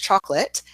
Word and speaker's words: chocolate: Yes, so to come back to chocolate, chalk is our clearest syllable, and we drop the O, it's gone, and then we have a schwa or that light I sound at the end with lut. It can be confusing for students that there's an E on the end because it doesn't have a function in this word, whereas in a word